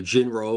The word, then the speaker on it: Jin-Roh: this title the correct way okay so uh Jirro uh the wolf brigade um it's actually a play on a term ginlu which means werewolf So Jinro or Jin Ru and this is why we